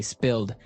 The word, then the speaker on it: spilled: Okay, spilled. Now, it's pronounced differently from spell, right?